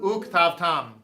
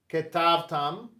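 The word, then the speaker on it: וּכְתַבְתָּם: those kind of things, all languages have this kind of stuff where if you're going to sign this out, it'd be like ketavtam, but the way it's actually That's pronounced, an and. right, the way it's actually pronounced is uktavtam.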